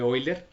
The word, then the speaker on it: Euler: especial que es el número de wyler que se escribe euler y ese número es